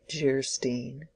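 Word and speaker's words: Geierstein: it for sale and man of Guerin pronounced jarstein or the maiden of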